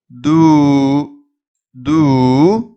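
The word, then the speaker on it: दूध: இங்கே பார்த்தீங்கன்னா இந்த எழுத்து தூ, தூ அப்படின்னு நீங்கள் நெடில் உச்சரிக்கணும்.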